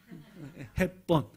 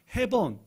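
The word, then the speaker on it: Hepburn: 햇반 그 햇반하고 친구입니다 햅번 따라해 보세요 햅번 시작 잊어버리지 않겠죠 자 일본에서는 햅번 발음이 어려우니까 해번 해번 이렇게 했습니다 일본 사람들은 해본으로 알고 있습니다 정확한 의미의 발음은 햅번 햇반하고 친구 햅번 시작 무적의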